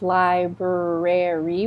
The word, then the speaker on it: library: So this is the fun one. We don't pronounce that all the R's. Library.